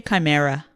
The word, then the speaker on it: chimera: in a snake's head shamira oh well that's not how I say it okay that's how I say it but chimera is that how you say it sure no one agrees on how to say it but yes ch IME RA yes you're right I know I say chimera okay I say Samara that's too fancy okay